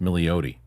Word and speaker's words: Milioti: Her name is pronounced Milioti.